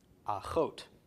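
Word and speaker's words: אחות: Sister is aleph chet, vav with a cholam, and tav. Pronounced achot.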